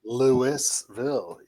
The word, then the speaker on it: Louisville: Uh we have a great guest, Adam Blackmore from Is it pronounced Louisville? Louisville. Lewisville. Lewisville.